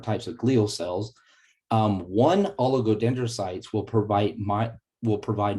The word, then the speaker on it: oligodendrocytes: that's quite a word there but it is pronounced oligodendrocytes and they create the myelin sheaths for the